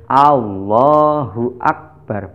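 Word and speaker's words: الله أكبر: Padahal yang betul yaitu Allahu Akbar, bukan akbar.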